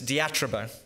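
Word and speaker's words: διατρίβω: You say it like this, diatrobo.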